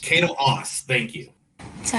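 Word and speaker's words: Caito Aase: in that movie first was man i cannot pronounce her name okay kato ass kato haas kato aas thank you so how much do you know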